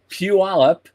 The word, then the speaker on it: Puyallup: But Orbital Robotics, which is in Puyallup, I got the pronunciation right.